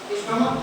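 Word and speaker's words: stomach: लेकिन हाँ एक ध्यान देने की बात है, जैसे यहाँ पे मैंने लिखा है स्टोमक, स्टोमक का यहाँ पे उच्चारण जो होता है सी एच का क्रॉस से होता है।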